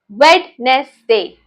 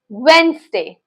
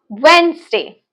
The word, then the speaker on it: Wednesday: How do you pronounce this word as? Some people call it as wetness day. So it's not wetness day, it's Wednesday. One more time, Wednesday.